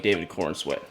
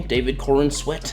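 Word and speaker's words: David Corenswet: The face really does look like David Corin sweat, right? That's how you say his name. David Corin sweat.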